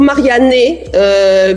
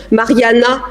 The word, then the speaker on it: Marianne: Alors je leur prononce toujours Marianne, puisque le E se prononce E, parce qu'autrement c'est la catastrophe. Mais en fait, Mariana existe en italien, donc je me transforme souvent en Mariana.